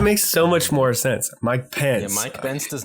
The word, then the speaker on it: Mike Pence: I know Joe Rogan who the hell is Mike bence why are they so fed up about this